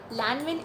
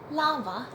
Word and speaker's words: Lanvin: Okay, now all my life I used to call this perfume Lanvin Eclat de Arpege, but apparently you pronounce it as Lava Eclat d'Arpege. I could be wrong, but I tried.